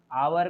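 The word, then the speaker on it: hour: उसके बाद देखिए, फिर यहाँ पर वही है, आवर को देखिए, एच को साइलेंट रखिए, आवर्स रेस्ट, तो एन आवर रेस्ट, ये हो गया आपका एच प्रोनाउंस वर्ड, जिसके आगे ए का प्रयोग होगा।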